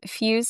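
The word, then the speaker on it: Fyoz: So, we own Fuse Financial Planning. Uh, Fuse is spelled the phonetic way. So, F Y O Z for all you listeners.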